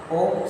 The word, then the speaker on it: ओम: इस प्रकार से 75% शस में हमें ओ का उच्चारण शेष बची 25% शस में मां का उच्चारण करना है।